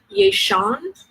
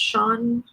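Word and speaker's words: Ye Xian: And the fairy tale there is called, and again, I'm not good with my Chinese, Yeishan, Y-E space X-I-A-N, I think that's pronounced Shan, Weishan, please forgive me,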